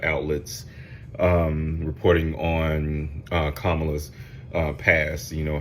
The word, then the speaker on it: Kamala: going to talk about kamla Harrison see I said it right kamla Harris because there another